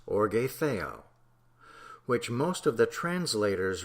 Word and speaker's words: orge theou: In the original Greek of the New Testament occurs in several places the phrase orge theou, pronounced orge theou, which most of the translators render the wrath of God.